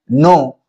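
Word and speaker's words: know: अंग्रेजी में हम लिखते हैं नो, लेकिन देख रहे हैं कि के साइलेंट हो जा रहा है।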